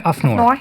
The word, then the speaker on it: AFNOR: Welcome, you're head of standardization in AFNOR, how you pronounce it? Yeah, AFNOR.